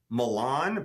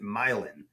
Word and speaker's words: Milan: think they're said this way, like it's supposed to be Calliope, but we pronounce it Calliope, or the street name is spelled like Milan, but we pronounce it Milan.